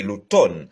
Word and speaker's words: automne: C'est pas l'automne, non, c'est l'automne. Eh bien, M n'a pas prononcé dans le mot ça.